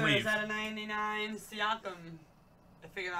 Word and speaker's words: Siakam: Is that a 99 Siakam? I figured out how to say it, guys. Siakam.